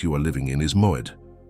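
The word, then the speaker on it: מועד: The Hebrew word that defines the exact state you are living in is moed. Pronounce it with me, one syllable at a time, moed.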